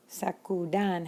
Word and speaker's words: sacudan: Sacudir, sacudan has three syllables. And so just like the two-syllable commands, sacudan, with its three syllables, the accent goes on the vowel of the second to last syllable.